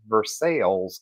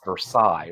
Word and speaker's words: Versailles: it versales so in Kentucky we call that versales Kentucky yeah and it cracks me up because everybody goes uh you know that's a French name and it's Versailles right like well depends on where you were